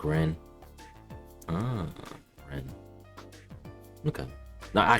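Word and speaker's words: Renne: Apparently in the voice acting it's pronounced more like Ren.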